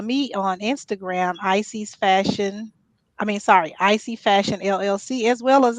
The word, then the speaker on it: Isy: Icy Fashion LLC, as well as on Facebook. It's spelled ISY as Izzy, but it's Icy.